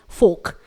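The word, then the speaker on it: folk: तो जी अब देख लेते हैं अगला वर्ड जो कि है फोक। यहां पर K लेटर के पहले L लेटर आया हुआ है इसलिए यह साइलेंट रहेगा, इसे हम पढ़ेंगे फोक।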